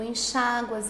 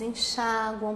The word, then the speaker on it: enxágua: Se você pronunciar assim, com a sílaba tônica recaindo no U, aí ele não é acentuado.